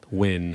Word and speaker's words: OIUN: Wen, pronounced when.